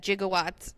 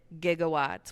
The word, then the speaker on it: gigawatts: um which also I read that jigawatts is a correct pronunciation and that it was just and that there's a hard G soft G just like GIF GIF like people used to pronounce it jigawatts now they pronounce it gigawatts with the hard G and so it was